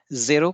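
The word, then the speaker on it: ゼロ: French में इसे कहते हैं जेरखो, और अंग्रेजी में हमें पता ही है कि जीरो कहते हैं। स्पेलिंग सभी में सेम है, ZERO। तो उच्चारण जापानी भाषा ने फ्रेंच जैसा जेरो जेरखो को जेरो कर दिया, और इसका प्रयोग होने लगा।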